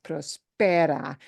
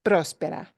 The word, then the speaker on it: próspera: Una economía próspera. And próspera gets an accent mark too, right? Otherwise, it would be prospera, but nobody pronounces that word as prospera. It's próspera. Like próspero año nuevo, prosperous new year, próspero.